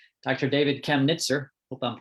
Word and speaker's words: Kamnitzer: David Kamnitzer. Hope I'm pronouncing that right, Dr. David. And accents on the first syllable. Okay. Kamnitzer. Kamnitzer.